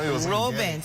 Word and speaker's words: Rubens: Robin, you told me to make sure I say that right. Rubens. I've never heard it pronounced as Rubens before.